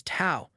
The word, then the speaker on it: Tao: power system known as Tao. We'll also be discussing the concept of Tandon, an essential aspect of this power system. Tao, pronounced Dao, is drawn from Chinese philosophy